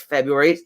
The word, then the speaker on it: February: so without the second without the second r it sounds like um it seems to